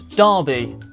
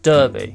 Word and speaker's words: Derby: a big carnival Darby now that's Darby not Derby although some people when